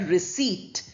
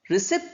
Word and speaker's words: receipt: And then you have the word receipt. We don't say receipt. Receipt is not the correct pronunciation. The one is correct one is receipt.